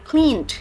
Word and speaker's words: cleaned: Sometimes you should pronounce the ed one, but sometimes you don't have to pronounce them.